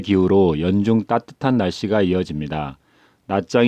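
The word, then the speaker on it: Nha Trang: 함께 뱉어 남녀 애 나짱 나트랑 편입니다 베트남어 발음은 나 짱인데 우리나라에서는 모 항공사에서 영어식으로 발음한 하여 나트랑 으로 광고의 소개되어 그대로 불려지고 있습니다 결국 낮잠 과 나트랑 은 같은 곳입니다 미치는 다낭 과오 쯤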